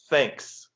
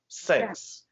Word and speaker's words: thanks: For example, I often hear even a very common word，就是非常常见的那个单词，比如说 thanks，但是大部分的中国朋友都说 thanks，因为这个 th 声音非常难。So if you really want